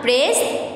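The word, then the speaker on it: praise: Admire, तारीफ करना, प्रेज, तारीफ करना, ठीक है। तो प्रेज में देखें, प्रेज की जो प्रोनाउंसिएशन है उससे स्पेलिंग से डिफरेंट है। इसमें आई साइलेंट है, ठीक है, इसमें क्या साइलेंट है, आई साइलेंट है।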